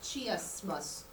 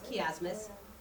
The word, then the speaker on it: chiasmus: It's spelled like chiasmus, but it's chiasmus.